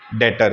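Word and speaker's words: debtor: डेटर। क्या बोलते हैं? डेटर। बी साइलेंट होगा यहां पे।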